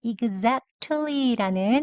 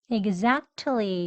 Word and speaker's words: exactly: 그리고 여기 exactly라는 정확히 단어 있죠? exactly 이렇게 1단계 발음입니다. 그리고 다음에 약해지는 발음은 exactly 네, 이렇게 두 번째 발음이요. 그리고 이제 세 번째 단계 가장 약하게요. 이 읒 소리도 없이 exactly 이렇게 발음했습니다.